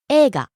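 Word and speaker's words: 映画: But there the another pronunciation is falling on the second syllable e and staying low. Ega.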